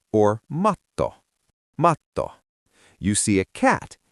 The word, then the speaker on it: matto: Is it mato or matto?